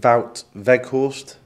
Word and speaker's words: Wout Weghorst: our fans for clarity the pronunciation of your name is it vout vekhorst yeah I I take it